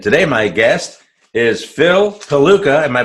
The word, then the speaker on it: Pelucha: today my guest is Phil Pelucha. Am I pronouncing that correctly, Phil? Pelucha. You were pretty close. Pelucha.